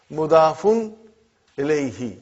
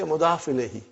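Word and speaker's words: مضاف إليه: Could you pronounce the first column again? What is it? Mudafun. Mudafun ilayhi. But we say mudaf ilayhi.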